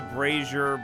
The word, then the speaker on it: brazier: I know it's called I know it's called a braasier, but it shouldn't be spelled like Brazilia then.